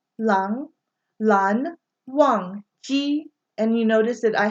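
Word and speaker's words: Lan Wangji: And then the second syllable or their given name is only one syllable long. So Lan Zan. Okay? But his more formal name is Lan Wang Ji. Lang Wang Ji. Lang. Lan Wang Ji.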